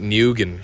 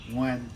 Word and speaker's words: Nguyen: as dumb American kids, we pronounce it Nguyen, something like that. You know, we would say it. No, Nguyen.